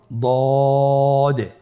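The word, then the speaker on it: ض: দদের মধ্যে নুক্তা রয়েছে দদ হারাফটি উচ্চারণ করার সময় অবশ্যই তিন আলিফ টেনে পড়তে হবে আপনার সাথে বলুন দ আবার বলুন দ আলহামদুলিল্লাহ দদ হরফটিও মোটা হরফ মোটা করে উচ্চারণ করতে হবে দদের মাখরাজ জিহ্বার গোড়ার কিনারা সামনের উপরের দুই দাঁতের গোড়ার সঙ্গে লাগিয়ে উচ্চারিত হয় আপনারা আবার উচ্চারণ করার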